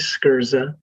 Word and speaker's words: Sgherza: my name is the last name is scurza and it's there's always a story between behind a name like that so here it goes so that you know phonetically it's spelled s-k-e-r-z-a but it's s-g-h-e-r-z-a and yes yeah and